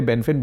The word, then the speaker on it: Benfen: Actually, the Chinese pronounce it a different way, and I say it's Benfen. We say Benfen, B-E-N-F-E-N.